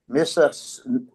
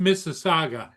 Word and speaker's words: Mississauga: It came from Mississauga, Ontario, and it's on the way to Perrysburg, Ohio. I know you just. It's pronounced Mississauga.